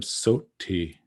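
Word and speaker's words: sotthi: a little bit adjusted notice here this word soti notice that there's a there's not really a two t's there's a t and there's a th and remember as i've said and i will continue to say that th is one letter one value it is not this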